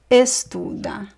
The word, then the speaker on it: estuda: Joana estuda. Joana estuda muito todos os dias. So remember the stress here is in the middle. I'm going to underline the stressed syllable.